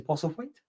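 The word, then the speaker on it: Postlethwaite: other guy was looking into as well Peter POS weight did I say it correctly he POS weight yeah great actor he's in sharp and things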